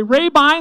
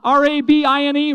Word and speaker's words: Rabine: time say pay me the weight i'll say rabine the way it's pronounced r-a-b-i-n-e rabine make sure we all know that okay i'll